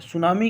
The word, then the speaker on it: tsunami: सुनामी किस भाषा का शब्द है? तो सुनामी, जिसका उच्चारण सु होता है लेकिन लिखते अपन टी से है, TSUNAMI, तो ये जो है ना, जापानी भाषा का शब्द है सुनामी।